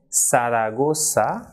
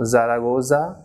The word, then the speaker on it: Zaragoza: be soft unlike English for example the person is not Zuma but it is sumo so like in English we say sir that is of the alphabet s so the same pronunciation of the same sound ripple produced in Spanish for this alphabet that is SATA so the person is sumo saragossa and cerveza she should not be Zumo zaragoza oats cerveza but sumo Siragusa